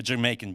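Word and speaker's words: D'yer Mak'er: of American Airlines yeah they call it dire maker like what the hell that's how it's spelled yeah uh but pronounced Jamaica but uh yeah I don't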